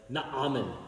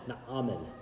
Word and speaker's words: Naaman: a Syrian King named naman or Bob pronounced it very well the original Hebrew was more like Naaman Naaman I'm gonna say Natan